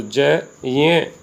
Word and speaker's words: ज्ञ: वैसे उसका शुद्ध उच्चारण संस्कृत में जय होता है, लेकिन हिंदी में ज्ञ के रूप में इसका उच्चारण किया जाता है।